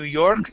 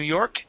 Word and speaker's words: York: Now, on New York, New York, make sure that you're pronouncing the K at the end of the word York. Okay. It sounded like you were saying New York, New York.